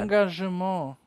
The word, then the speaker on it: Engagement: Engagement. Das E wird wie ein A ausgesprochen.